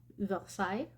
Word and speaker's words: Versailles: which is Palace de Versailles. Okay. I'm trying to pronounce it in a French way, but it's also, Palace